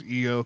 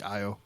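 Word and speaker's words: Iyo: for people to know how to pronounce EO, because people, when they do see IO, they just see IO instead of EO.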